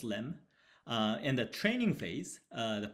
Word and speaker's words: lem: So the predicate is written as lem in our experiment, pronounced as lem.